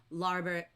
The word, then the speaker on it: larboard: But in the book, and even though it looks like it says larboard and starboard, it's pronounced bird. So larboard, starboard, and they're the left and right sides of a ship.